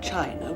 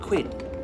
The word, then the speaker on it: Qin: the great wall of china was designed by the emperor quinn whose aspirations excuse me it is pronounced tien oh thank you mr lee emperor chin who was a wise